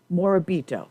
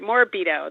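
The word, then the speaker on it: Morabito: I'm half Italian I know I'm going to mispronounce your last name moribito do I have a corrector role no you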